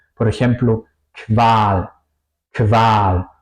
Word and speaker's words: Qual: Por ejemplo, Qual, Qual o bequem. Qual sería tortura, bequem sería cómodo. Se pronuncia más como una K y una W en español, diría yo.